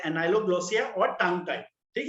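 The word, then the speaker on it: ankyloglossia: तो यहाँ पे क्या है, द के इज साइलेंट, ठीक है. This disease is called as एनाइलोग्लोसिया, where the फ्रीनुलम इज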